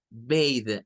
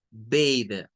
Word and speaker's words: bathe: Bathe, en términos de la pronunciación. Bat, bathe.